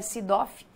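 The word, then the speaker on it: SIGA-Doc: é isso se doc é uma sigla né que ele vai diferenciar uma comunidade que você pronuncia Seedorf que é sistema de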